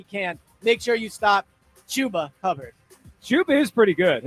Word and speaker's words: Chuba: Isn't it Chubba? No, it's Chuba.